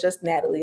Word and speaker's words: Nataleh: The H is silent, so it's just Natalie.